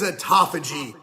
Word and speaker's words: autophagy: So this sciencey sounding word, it's derived from ancient Greek. And to find out how to properly pronounce it, we tracked down 5 people who speak ancient Greek. That's right, there are bigger nerds than us out there. Now, they all told us slightly different things, but it tended to be something like autophagy. So that's what we'll go with.